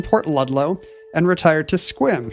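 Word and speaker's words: Sequim: Ludlow and retired to Squim. He spelled Squim without the silent E.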